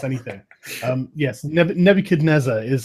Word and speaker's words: Nebuchadnezzar: Can I pronounce him the correct way for you so that you get the whole? Yes. Nebuchadnezzar.